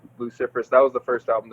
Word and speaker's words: Luciferous: Because I say it a little too fancy. I think Luciferous is too much, right? Yeah. Luciferous. Luciferous.